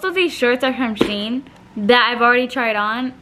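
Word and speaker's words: Shein: is she and the the way that they put it was like she in Sheen so that's how I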